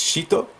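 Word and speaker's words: シート: This means a bad smell, so it's like extinguish bad smells, and this is pronounced shito, which would be sheet.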